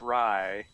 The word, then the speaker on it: Rye: I am playing rye it's pronounced rye like the bread yes I'm a Jackalope